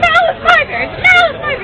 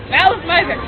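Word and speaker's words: Malice Mizer: and and he started to like he was trying to pronounce Maliser. Everyone's like Mal is miser. He's like neither neither. Like no malice miser.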